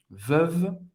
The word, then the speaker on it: Veuve: Veuve Clicquot. E o em francês tem o som do E. Hein? Veuve. Você vai acabar no segundo V.